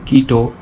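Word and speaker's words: Quito: Answer করো কুইটো কার রাজধানী? এখানে অ্যান্সার হয়ে যাবে কুইটো হলো ইকুয়েডরের রাজধানী। কুইটো হলো ইকুয়েডরের রাজধানী। ডিসক্রিপশান দেখে নাও। কুইটো স্প্যানিশ উচ্চারণ কিটো, কেচুয়া কিটু।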